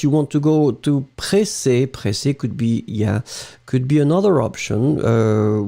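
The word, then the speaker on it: pressée: So, impatient is the first option, and then pressé could be totally acceptable. Pressé, remember, you will have to put this extra E in the end that you won't pronounce.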